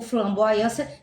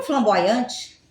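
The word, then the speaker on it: flamboyant: O flamboaiã tem um T no final, todo mundo sabe, mas ninguém fala flamboaiante, entendeu?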